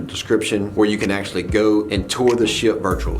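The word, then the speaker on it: Geaux: comes to the Tigers we don't spell go geo we spell it GE aux and that's just a French spelling of go the other thing I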